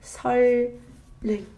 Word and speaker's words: 선릉: But it's way easier for us to follow the assimilation rule and pronounce it like 설릉, 설릉, 설릉.